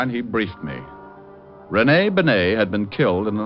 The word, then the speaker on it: Bennet: It's pronounced Benet, not Benny.